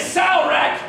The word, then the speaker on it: Salrek: that one second Rock yes my name is Sal wreck it's been sound like this whole campaign I've been pronouncing into my head it's so rock for